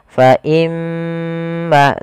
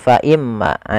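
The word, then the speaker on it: فَإِمَّا: hukumi dengan bacaan gunah cara membacanya adalah menahan suara gunahnya faimma tidak langsung faimma kesalahan yang sering terjadi yaitu dia apa namanya tidak menahan gunahnya langsung faimmaah ini salah yang harusnya adalah faimma dulu kemudian pada lafal maanya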